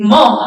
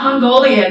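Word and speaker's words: Hmong: Mole.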